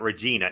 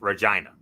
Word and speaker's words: Regina: Before I get into that, MF, as the quote-unquote Port Authority of all things Canada, it's not Regina, it's Regina. That's how we pronounce it.